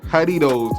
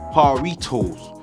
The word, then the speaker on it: Jarritos: all men Essentials now the name is haridos and not haritos I just picked this up for my own Hispanic store man asked him how to say it he said haridos sound like a d you feel me so